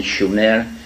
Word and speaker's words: Sumer: in a land called Sumer, in the correct spelling and pronunciation, Shumer, which meant land of the guardians, in southern Mesopotamia, which is today's Iraq.